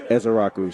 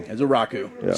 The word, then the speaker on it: Ezeiruaku: But the the nickname is, but you know, the pronunciation is Ezaraku. So, Ezaraku.